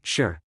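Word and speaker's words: 四: We pronounce it sure, which is the same sound as the word fourth death.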